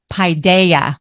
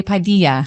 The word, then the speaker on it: paideia: and here we go paideia paideia padeia don't say Padilla nope that's not it hi Daya we've practiced